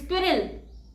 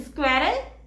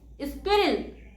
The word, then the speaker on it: squirrel: And the correct pronunciation is squirrel. It's not squirrel, it's squirrel.